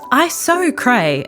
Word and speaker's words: Iso Cray: isocrae pronounced iso cray and otherwise known as resilientitis is a form